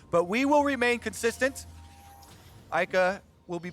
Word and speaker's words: Eika: French, everything is very flat. So you say A as hard as you say Ka, and that's how you pronounce the screen name. Yeah. Eika.